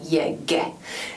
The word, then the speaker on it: llegue: Můžete si všimnout tohoto vloženého účka, které je typické, velmi často se používá kvůli výslovnosti právě kvůli tomuto španělskému g. Takže čteme pouze jako llegue.